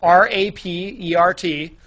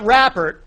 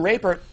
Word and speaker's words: Rapert: His last name is spelled R-A-P-E-R-T. So it's definitely not Rappert, because that would be with two P's. So I guess his name is Rapert.